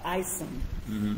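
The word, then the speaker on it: ISOM: us about we have a program called isim it's spelled is O M right which means International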